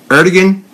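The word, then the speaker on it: Erdoğan: are dogging her dog getting high you wanna pronounce his name Erdogan is covertly providing direct military and I said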